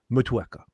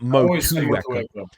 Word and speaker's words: Motueka: And he said it's Motueka. Like not Motueka. Okay. Yeah, but it's like a little dip on the like Motueka.